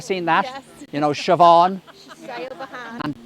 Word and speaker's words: Siobhan: Yeah, I saw something yesterday on YouTube about American people trying to pronounce Irish names. You ever seen that? Yes. You know, Siobhan and Tig, T-A-D-H-G, Tig, and Caoimhe, C-A-O-I-M-H-E, Caoimhe.